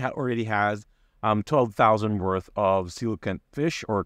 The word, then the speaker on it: coelacanth: He or she already has 12,000 worth of coelacanth fish or coelacanth, depending on how you would want to pronounce it.